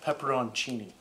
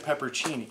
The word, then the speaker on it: pepperoncini: like the color of pepperoncini pepperoni that's how you pronounce it I didn't realize there was an o-n in there but there is I guess yeah I always said peppercini yeah pepperoncini but it's